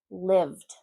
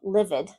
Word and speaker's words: lived: Played, opened, lived, called, cleaned, planned. Okay, that's not played, opened, called, livid. No, 1 syllable.